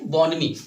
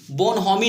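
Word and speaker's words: bonhomie: यहाँ पे जो H होता है, देखो यहाँ पे जो H है वो साइलेंट है यहाँ पे, तो इसको हम क्या पढ़ेंगे? बॉनमी। बोनहोमी नहीं पढ़ेंगे, क्या इसको पढ़ेंगे? बॉनमी।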